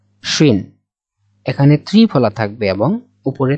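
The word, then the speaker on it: شين: এরপরে আসি শিন। শিন, এই শিনকে আমরা বলা বা উচ্চারণের সুবিধার্থে আমরা বাংলার তালিবাস স্বরের সাথে আর কি মিল রেখে বলতে পারি। যেমন শিন, শিন এখানে ত্রিফলা থাকবে এবং উপরে তিন নোকতা দেওয়া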